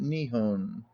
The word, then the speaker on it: Nippon: in the east called nippon note the fact that haku is a foreigner is conventionally emphasized by his pronunciation of this word the fisherman when using the same word later on called it nihon endnote now at my